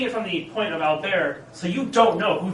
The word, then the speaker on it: Albert: His name's Albert, or Albert as it's pronounced in English, but it's French, so pronounced Albert.